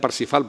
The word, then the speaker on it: Parzival: La tercera y última versión es la Parsifal, que se escribe en alemán Parzival, pero se pronuncia Parsifal, por eso vamos a utilizar por su transcripción en español la palabra Parsifal.